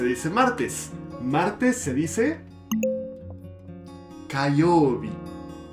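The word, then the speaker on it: 火曜日: Martes se dice Kayobi. Kayobi.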